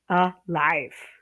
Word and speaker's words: alive: Alive, alive. Okay? That's a stress on the second syllable, isn't it? Alive.